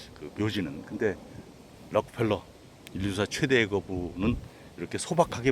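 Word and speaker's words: Rockefeller: 근데 제가 이 록펠러가 다들 또 어저께 또 들은 게 있어가지고 락펠러라 그러지 않고 록펠러 그러네요.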